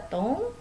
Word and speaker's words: ton: Di sini ada tong. Nah, yang tong ini dibacanya tong.